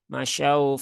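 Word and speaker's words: مشوا: dan jangan ditekan-tekan dan bunyi vokalnya itu adalah u ya bukan O nah ini sering ya sering kami dapati di banyak orang ya Ee ketika ada wau sukun itu terbacanya O masyaau masyaau masyau Fi masyaufi Nah itu ee enggak tepat ya Enggak tepat Jadi bukan O ya tetapi bunyinya adalah u masyau monyongkan bibirnya masyau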